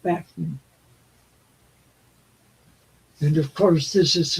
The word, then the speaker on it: Bachman: Bachman turn or Backman Turner overdrive after Randy pronounces it Bachman.